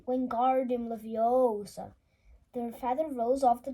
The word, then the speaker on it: Wingardium Leviosa: much more luck when guardian Leviosa he shouted waving his long arms like a windmill you're saying it wrong Harry heard Hermione snap it's Wingardium Leviosa makes the guard nice and long you do it then